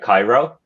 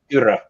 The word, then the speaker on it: Kyro: I thought that the way you pronounce the distillery, I think you said something like Cairo, like the capital of Egypt. Yeah, it's Kyro.